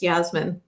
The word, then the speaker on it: Yasmin: mispronounced my own name is Yasmin rhymes with Jasmine but yeah how I